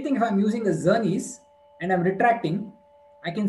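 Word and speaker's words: Czerny: It's called the zernes retractor which starts with the C. The C is silent.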